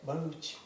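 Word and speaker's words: Bharuch: Baruch.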